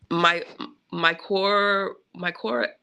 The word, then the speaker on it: mycorrhiza: But hopefully those mycorrhiza, how do you say it, Cedar?